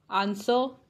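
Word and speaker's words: answer: कुछ वर्ड्स में W silent होता है, वो वर्ड्स हैं हु, हुज, होल, हुम, हुएवर, आंसर एंड टू.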